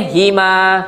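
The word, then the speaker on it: هِمَا: Hima. Kenapa baca hima? Sebab sebelum huruf ha ada huruf ya mati.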